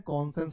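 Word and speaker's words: conscience: तो यह हो गया कन साइंस लिखते हैं कन सेंस पढ़ते हैं क्या पढ़ते हैं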